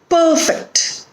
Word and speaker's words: perfect: So we put accent or stress on the first syllable when the word is a noun or an adjective, and when the word is a verb, we put accent or stress on the second syllable.